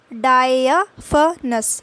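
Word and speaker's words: diaphanous: तो डायफनस, इसका प्रोनाउंसिएशन मैंने लिख लिया है डायफनस, डायफनस। हालांकि ये तरीका लिखने का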